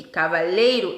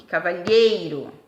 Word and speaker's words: cavalheiro: não são tá bom na verdade elas são paroxítonas a sílaba tônica é a penúltima cavaleiro e cavalheiro tá é o e